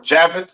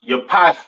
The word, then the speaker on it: Japheth: Next we have Japhet. All right, or Javeth. Some people like to call it. Right. Pronounced Yapath in Hebrew.